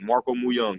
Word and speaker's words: Mooyoung: Marco Mooyoung, you said it right. Mooyoung of Marco Mooyoung. Yeah, And yeah, Mooyoung, that's good.